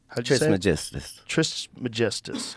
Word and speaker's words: Trismegistus: Trismegistus.